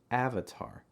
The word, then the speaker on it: Avatar: never have i ever avatar avatar lots of a sounds here a vitar remember the back of your tongue is down front of your tongue is down and the middle your tongue is slightly raised if you look